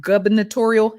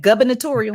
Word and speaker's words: gubernatorial: Excuse me, Democratic former gubernatorial. How do you say that? Gubernatorial. I said, how you go from governor to gub with a B?